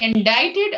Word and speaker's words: indicted: we can say indicted or we can say indicted. Indicted. Indicted. It's a weird pronunciation.